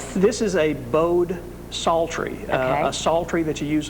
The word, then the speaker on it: psaltery: This is a bowed psaltery. A psaltery that you use a bow on. The The old-timers used to pronounce it a salter.